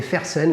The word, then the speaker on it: Fersen: Springer and furton d'accord Springer et faire scène les amis si on prononce avec un accent totalement français regarde ça c'est le